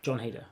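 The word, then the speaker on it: Jon Heder: John, how you pronounce his name? John Heder.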